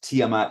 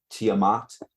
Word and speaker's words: Tiamat: Okay, so Tiamat, mostly pronounced Tiamat as I say it. Apparently some people in the world pronounce it Tiamat, like how some people say taco. Do what you want, but you're wrong.